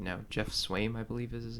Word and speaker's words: Swaim: at this point, but Is it Swaim or Swami? They might as have far as something. I've heard, it's Swaim. They might have something here. If it's spelled or pronounced like Swami, Then the Bills are winning a Super Bowl.